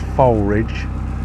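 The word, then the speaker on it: Foulridge: the way they're spelled it's spelled foul Ridge but uh I'm reliably informed by locals it's folbridge and bernoldswick he's not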